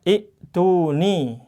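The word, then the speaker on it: ائتوني: Maka khusus ini di awal surat Al-Ahqaf, ya, ini dibacanya i'tuni. Nah, nanti ada pelajaran lagi tentang mad badal. Nanti ini dibacanya ituni. Nanti insya Allah masih lama ya. Ini saya jelaskan aja biar nggak simpang siur. Biasanya ada yang komentar, kemudian perlu dijelaskan, ya sudah, kita jelaskan aja. Jadi nanti bacanya ituni.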